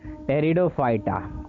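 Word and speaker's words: Pteridophyta: भी किया जाता है टेरिडोफाइटा का इसमें पी साइलेंट है इस समूह के पौधे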